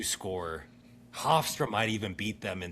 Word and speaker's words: Hofstra: Hofstra.